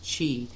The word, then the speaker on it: Qi: before right they have the what it's called Chi sometimes we'll call it the life force you know but and it's spelled Qi not but it pronounced Chi and it's the vital energy that flows along